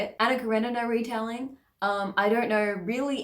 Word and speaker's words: Karenina: yeah that's how you say it Anna Karenina retelling I don't know really anything about Anna